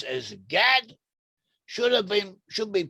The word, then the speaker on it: Gad: Gad has a name "Gad" which in Hebrew, in Ancient Hebrew could have been pronounced as "Goth."